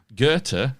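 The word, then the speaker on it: Goethe: Gerta, and I've had help in the pronunciation of that hopefully.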